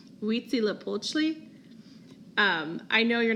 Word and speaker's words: Huitzilopochtli: this Aztec God much less know how to pronounce it it's Huitzilopochtli I know you're not gonna remember how to